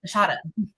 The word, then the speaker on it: Nashada: My name is Nashada. So Nashada, and so God gave me the name Nashada. Um, Nasha, Nashara. It is pronounced Nashada.